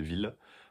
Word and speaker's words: Wille: C'est pas Wille, c'est ville, plutôt. Prononciation à l'allemande, bien sûr.